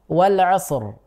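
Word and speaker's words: والعصر: kan i i ya Sehingga di situ kita bacanya rnya tebal Wal asr bukan walasr Wal asr meskipun di ayat ini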